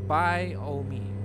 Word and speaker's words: biome: Biome? I don't know what's the meaning of that one. Biome? What's a biome? Can you do that in English word? Don't pronounce the E.